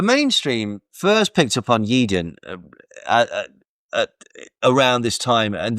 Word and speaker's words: Yeadon: said in recent months yeden pronounced yeeden has emerged as an